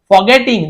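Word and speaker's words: forgetting: फॉरगेटिंग, भूल जाना, ऐसे फॉरगेटिंग ऐसे पढ़ते हैं, लेकिन ये समय आर थोड़ा सा साइलेंट होता है, जैसे कि फॉरगेटिंग, देखिए आर को बोल ही नहीं रहा है ना, जैसे डॉक्टर नहीं बोल,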